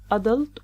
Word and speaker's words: adult: The last word here " 'Adult" or "a'DULT". it's a noun. The stress is on the first syllable 'Adult gives the British pronunciation while the stress on